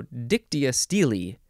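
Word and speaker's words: dictyostele: the next word dictia steel or dictia Steely dictus no dictia Steely that's how you say it dictia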